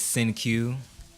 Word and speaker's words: Cenque: So my middle name is Senque. It's spelled Cenque.